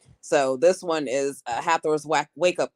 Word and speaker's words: Hathor: uh haor but uh how how do you pronounce it haor hathor right yeah hathor and goddess of love and then uh she